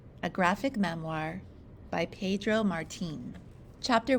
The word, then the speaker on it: Martín: The hastily prepared, super superficial beginner's guide to the Martín family. Hey, hold on. Isn't Martin an American-style name? Not when you pronounce it Martín and roll your R's like a fancy Spaniard.